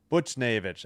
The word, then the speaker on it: Buchnevich: N Naevich Buchnevich uh yeah. Sorry. Lafleur takes the puck. I bl- uh Butch- butchered it again. Buchnevich.